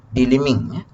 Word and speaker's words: delimbing: So English pronunciation silence the B, delimbing.